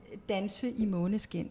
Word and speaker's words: Danse i Måneskin: Danse i Måneskin.